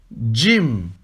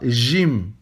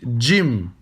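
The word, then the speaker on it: ج: Jim. Et non pas Jim. D'accord ? Vous prononcez un D avant le J. Vous dites Jim.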